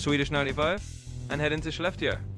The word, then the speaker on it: Skellefteå: Then from our video, nice job on the pronunciation by the way, you'll hop on the Swedish 95 and head into Schleftia.